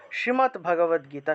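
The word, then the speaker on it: শ্রীমদ্ভগবদ্গীতা: এটা হলো শ্রীমদ ভাগবত গীতা শব্দের শুদ্ধ উচ্চারণ।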